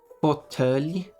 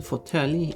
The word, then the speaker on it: fåtölj: This word, it's pronounced fåtölj. So Swedish has taken the pronunciation fåtölj. It matches French.